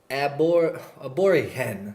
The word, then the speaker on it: Aborigen: It's not his favorite, her favorite, but this production is called P125 by Aborigen. That's how I'm pronouncing it.